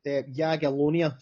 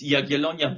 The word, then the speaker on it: Jagiellonia: Uh so the pronunciation is Yagelonia Geto.